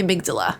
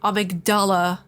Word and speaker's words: amygdala: is that located in the amygdala no it's not avidala you buttface I will